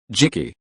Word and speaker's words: Jiki: Jikiheim Balu Tenji Jiki Jiki pronounced the same as key.